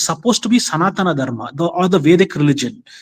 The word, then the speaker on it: Sanatana Dharma: dharma dharma okay how do you say the first part sanatra sanatana sanatana okay sanatana dharma okay sanatana dharma